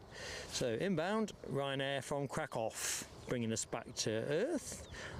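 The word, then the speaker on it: Kraków: So there's the inbound Ryan Air from Crackoff. He's not in the place where it's camper. All right. Oops. That's all right, Linda. I just had to figure out how you pronounce it. That's crack off.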